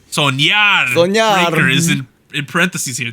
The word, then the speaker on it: Soñar: NMIXX pre-release with How do I pronounce this, Anita? Soñar. Soñar.